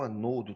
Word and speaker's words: anodo: O polo negativo de uma pilha a gente vai chamar de ânodo ou anodo, tanto faz, tá? Ânodo ou anodo, a pronúncia é indiferente, ok?